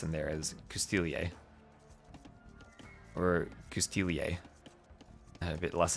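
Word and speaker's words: Coustillier: Other than the disagreement over Custilier. and whether or not that S should be pronounced. I have settled on pronouncing the S because it's written in the word, and apparently the word also can be written without the S.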